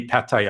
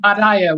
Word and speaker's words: Pattaya: everything left and right next to go will be pattaya i'll start saying like patia or something and i'll lose